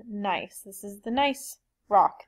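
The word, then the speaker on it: gneiss: is shist and also nice which is not pronounced Guinness it is called nice this is the nice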